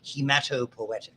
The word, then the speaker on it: hematopoietic: Okay, and there's also, when we get to the blood, you'll hear about it in the way you pronounce this, is hematopoietic stem cells in bone marrow.